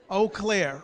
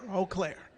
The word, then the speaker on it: Eau Claire: weird because it's like y'all took all the vowels and left out o but that's actually how you pronounce the name of the city wow okay eau claire eau claire wow that would be